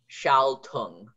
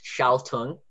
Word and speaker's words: schaltung: Okay, so another thing is the S-C-H. So you have G-L-E-I-C-H, and then S-C-H for the sh sound, and then all, glide, shall, sorry. And then you have the ung ending again, U-N-G.